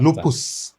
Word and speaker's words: lupus: is it should be it should be pronounced as lupus lupus not lupas in Latin because lupus